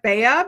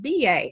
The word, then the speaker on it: BA: So if you missed the video, we've now learned how to pronounce, it looks like Bea, but it is pronounced BA.